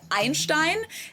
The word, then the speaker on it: Einstein: In German his name is pronounced Ibat Einstein and the band is called Ramstein not Ramstein as many people believe.